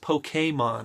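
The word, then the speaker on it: Pokémon: It's pronounced Pokemon, I just realized.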